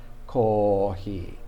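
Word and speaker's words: コーヒー: Japanese has no sound for F. So they don't say coffee or kofi. I think the Koreans say kopi. I think some other countries say kopi. Cafe, of course, in European countries, cafe. But Americans say coffee, and the Japanese say kohi.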